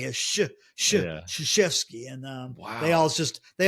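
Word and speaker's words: Krzyzewski: See, I want to say Chrisels.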